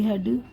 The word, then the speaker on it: हेड: जैसे कि हम उसको बी आर ई ए D bread पढ़ेंगे, डी आर ई ए D dread, H ई ए डी हेड, टी एच आर ई ए D thread, S